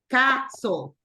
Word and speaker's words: castle: Sandra santin cly M listen listen Sandra castle like this castle that is the pronunciation okay correct go ahead